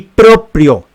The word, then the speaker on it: proprio: d no se necesita y proprio así con la r en la segunda sílaba nada de motu propio